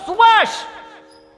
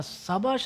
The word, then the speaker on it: Sabash: (performs a vocal percussion sequence for 10 beats) SUBASHHH! Mahadevan uncle will go, SUBASH! I'm like, what ...? Uncle pronouncing Sabash as Subash is a bit too much!